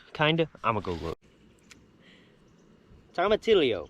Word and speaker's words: tomatillo: Tomatillo, pronounced tomatillo, yo, ya, tomatillo, tomatillo.